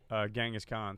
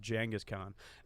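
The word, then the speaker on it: Genghis Khan: even know how long the podcast was about gangas Khan so I'm pretty informed it's actually pronounced jangus Khan and uh that's the steps so they're called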